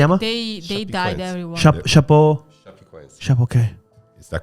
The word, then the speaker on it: Chapecoense: Chapecoense. Chapeau. Okay. Is that correct? The Yes.